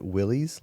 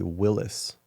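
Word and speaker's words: Willys: some people pronounce it Willies like a Willies Jeep uhhuh um the rumor is that it's actually Willis like the Y is pronounced as an I wait but that but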